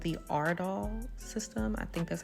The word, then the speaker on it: Aurdal: putting up here this is actually called the Ard doll system I think that's how you pronounce it but um the way it works